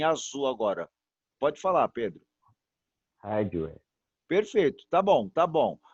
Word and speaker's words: hardware: Arduari, tá vendo, ó? Arduvari. Não vou falar. Eu vou falar hard. Eu não falo o A ou o H com o A, né? Hard, hard. Eu falo hard. Puxo o R mesmo, tá bom? E aí o where, né? De wave, né? Hardware, ok?